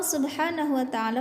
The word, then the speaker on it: Subhanahu Wa Ta'ala: Maha Penerima Taubat Allah Subhanahu Wa Ta'ala memerintahkan ini kalau ada singkatan SWT dibacanya subhanahuwata'ala Ya teman-teman Allah Subhanahu Wa